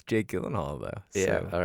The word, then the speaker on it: Gyllenhaal: Not a bad investment now that it's Jake Gyllenhaal though.